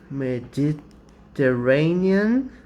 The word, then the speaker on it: Mediterranean: use that definite article to specify right they mediterranean yes it's double r i guess i'm going